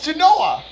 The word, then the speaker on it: Genoa: It's Genoa.